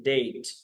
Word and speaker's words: debt: डेट डेट, अब ये word है DEBT, इसमें बी साइलेंट होता है। ठीक है, इसे पढ़ते हैं डेट।